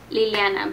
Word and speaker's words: Liliana: first thing would be how to say my name my name is Liliana but everybody calls me Lily Lily um and my